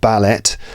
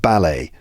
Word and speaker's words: ballet: and elegance ballet dancer notice that the t is not pronounced it's not ballet but ballet a ballet dancer okay